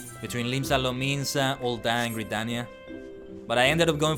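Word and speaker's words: Gridania: all gania first gania sorry gania is the right way to say it maybe it's a potato potato situation but I prefer to say gania my favorite uh of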